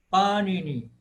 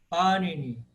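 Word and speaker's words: Pāṇini: Panini. Panini. Por quê? O A é que é longo.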